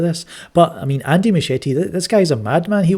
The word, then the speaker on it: Muschietti: That's how you pronounce it, Muschietti.